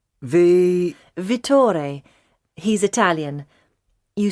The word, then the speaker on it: Vittore: Ah, what was that again? Vittore.